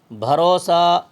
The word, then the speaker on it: بھروسہ: رے و پیش رو، یہاں یہ آواز جو ہے وہ معروف و مجہول کی آواز ہے، اس میں ہم واو کو لمبی نہیں کریں گے، باریک نہیں پڑھیں گے، اس کو موٹی اور گول پڑھیں گے۔ مجہول آواز جو ہوتی ہے وہ موٹی اور گول ہوتی ہے۔ بھروسہ، بھے زبر بھا،